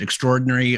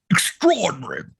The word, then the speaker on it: extraordinary: the word well we we would pronounce it extraordinary or extraordinary but the brits say and i've been working on this here's my accent extraordinary extraordinary extraordinary everything was